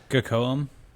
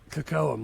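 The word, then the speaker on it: Kocoum: Uh uh Coam or however you say his name is. Kakoam. Kakoam.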